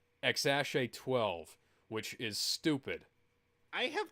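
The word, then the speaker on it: X Æ A-12: his kid's name is X AA12 what Mk I have many questions that's just the the uh phonetic pronunciation the way questions the way it's actually pronounced is xash 12 which is stupid I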